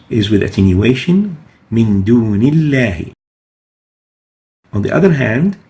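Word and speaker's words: دُونِ اللَّهِ: Another example, Min dunillahi. Dunillahi. The lam here, the lam of lafz al-jalala, of the word Allah, is following a noon with kasra, so it is attenuated.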